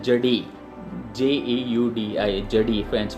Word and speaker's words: Jeudi: तो फ्रेंच में इसको बोला जाता है जडी, JEUDI, जडी फ्रेंच में बोला जाता है।